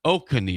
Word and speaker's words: Oconee: I think it's Oconee. Oconee is how you say it.